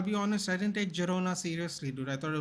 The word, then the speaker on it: Girona: three years and he's on loan to Girona not gerona dude they loan their